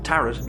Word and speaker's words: Tarrant: Yes, they foreshadow it from the start by having her father's name be Leo Tarrant, pronounced Tarrant like parrot, but that's just a normal name, or so we think.